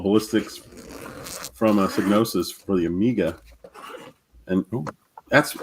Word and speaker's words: Psygnosis: Cynosis is what I would say. Cynos. It's got that G in there. Yeah, but so does the word sign. And you don't go sigin.